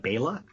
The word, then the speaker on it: Bela: I don't know if it's Bela or Bella. I've heard it pronounced 2 different ways on oh my god, the classic Hollywood podcast. They call it Bela. Oh, okay. So Bela Lugosi. But I'm not sure.